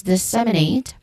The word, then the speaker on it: disseminate: Pronunciation wise, disseminate.